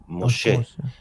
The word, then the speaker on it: Moshe: him Mos and that we don't say Moses we say Moshe, but the but the modern Israeli mispronounce Moshe. It should be closer to an S sound.